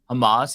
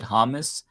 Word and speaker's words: Hamas: very incoherent and he didn't even know how to pronounce Hamas he said hamus and when I said